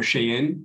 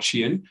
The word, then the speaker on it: Shein: Depending on how you want to pronounce it, would be, you know, in Chinese, it's more Shein, but I think a lot of people in the West call it Shein.